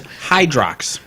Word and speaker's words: Hydrox: way I don't know the correct pronunciation is Hydrox oh now I've been